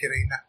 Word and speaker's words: Krna: So they're spelled Krna, but they pronounce it like Kirena. Okay, Karina.